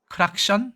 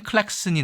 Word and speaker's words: 클랙슨: 지금도 영국에서 쓰이고 있고 우리는 크락션이라고 해야 하나요 경적을 크락션 뭐 이렇게 이야기하는 일본식 뭐라 그럴까요 그런 영어 발음이죠 따라 하고 있다 그래서 크락션 보다는 클랙슨이 나을 것 같고요 클랙슨 보다는 홀이나 아니면